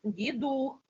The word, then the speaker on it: Дідух: це таке за Дідух подивітьсях Елі а правильний наголос Дідух Дідух - це символізує врожай багатство і добробут